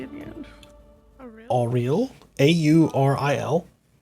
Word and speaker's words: Auril: Auriel, Auril. Avril.